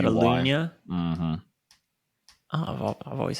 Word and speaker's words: Catalunya: So you live in Barcelona, and there's Catalonia, and then Catalunya, yeah. How did you say it? Lunya. It's like a L-U-Y. Catalunya.